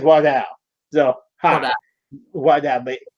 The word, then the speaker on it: Waldau: doubt and yes people I did listen to him pronounce it so that is how you pronounce it is not Waldo he says walked out so haha why God